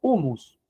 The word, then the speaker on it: humus: latín y esa raíz en el latín se pronuncia humus, ¿verdad?